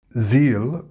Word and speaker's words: zeal: Zeal can give you feel. Seal or steal if not pronounced correctly. Notice the difference between the z sound in zeal and the s sound in seal.